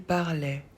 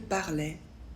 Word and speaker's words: parlait: Il parlait. Elle parlait. On parlait. Pour il, elle, on ajoute A, I, T. On ne prononce pas le T. Il parlait, elle parlait, on parlait.